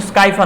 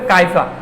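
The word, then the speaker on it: Scypha: তো এই কাইফা গ্যালাটিনোসাম এটা কিন্তু স্কাইফা না উচ্চারণটা কাইফা কাইফা মানে কি কাপ এই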